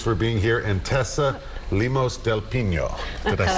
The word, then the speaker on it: Lemos del Pino: And Tessa Lemos del Pino. Did I say it right? Lemos del Pino, yes. Lemos del Pino.